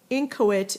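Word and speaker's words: inchoate: for that get you interested okay um incoit incoit is how it's pronounced incoit is adjective incoit means um not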